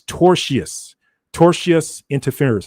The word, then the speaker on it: tortious interference: She said it's tortious interference. And I know I might be messing that up, but it's tortious interference is what they're doing.